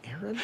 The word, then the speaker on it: Aaron: Because it's pronounced Aaron.